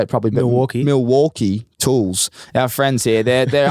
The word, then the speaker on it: Milwaukee: It's not Milwaukee, it's Milwaukee. He goes, if they're your sponsor, say it properly, mate.